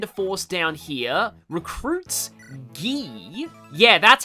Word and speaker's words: Guy: Uh first is to send a force down here, recruit Guy. Yeah, that's how it's pronounced. Guy, not Guy. Apparently, it's French.